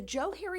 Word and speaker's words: Johari: in 1969 that the Joe Harry window is pronounced as if it were Joe and Harry which is where the